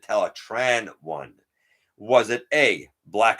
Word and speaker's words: Teletran: only beast force character pronounced teletran one correctly while most of them said teletron one this character said tell a tran one was it a